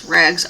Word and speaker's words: Raggz: That's how I'm going to pronounce it, is Raggz, R-A-G-G-Z yarn.